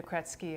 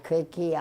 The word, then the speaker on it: Krejci: these kids phonics, and the J is pronounced like a T. That's how my in-laws did it. So I kept thinking like, oh, and I've been called Krejci, all kinds of things.